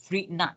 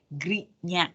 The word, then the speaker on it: Grignard: So it becomes organometallic compound that is called Grignard reagent. Okay, Melayunya Grignard. Kalau rasanya saya pernah dengar dia pronounce as Grignard. Okay, Grignard reagent or Grignard reagent. Okay, doesn't matter.